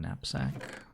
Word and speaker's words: knapsack: How do you pronounce the K in knapsack? Just a silent K.